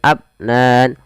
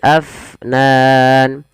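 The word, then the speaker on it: أفنان: daw Afnan kemudian padafal Fa AF alirkan nafasnya jangan abnan tapi Afnan kita coba ulang daw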